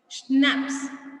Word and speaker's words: schnapps: We have, see, the pronunciation of this word is schnapps.